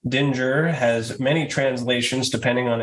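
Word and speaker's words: Dingir: the deities in ancient Mesopotamian religion this pictograph pronounced Dinger has many translations depending on its use the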